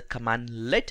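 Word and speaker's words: cmdlet: So we call the PowerShell commands as a commandlet, as we pronounce.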